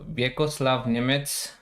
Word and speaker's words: Vjekoslav Nemec: Anyway, let me introduce Maaike Keetman from Netherlands, women FIDE master and publishing manager at Chessable, and Vjekoslav Nemec. Is that correct pronunciation?